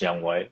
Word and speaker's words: Younghoe Koo: it's Younghoe Koo. It's spelled Younghoe, but it's pronounced Younghoe.